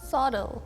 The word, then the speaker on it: subtle: Subtle. Subtle. Yeah. Subtle. Instead of B, use like D sound and then the T is gone.